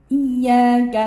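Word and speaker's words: إياك: Kemudian iyyaka na'budu wa iyyaka nasta'in. Iyyaka, di situ ada ya bertasydid atau bersabdu. Cara bacanya ditekan, tapi tekannya jangan berlebih.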